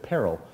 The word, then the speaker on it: Perl: um even even the the town of pearl itself they don't know how to pronounce their own name because they pronounced it peril and and we were